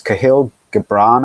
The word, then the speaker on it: Kahlil Gibran: And it's Kahlil Gibran, I think it's pronounced, from the Prophet on Love.